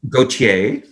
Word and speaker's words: Gautier: Is that the right pronunciation? Gautier.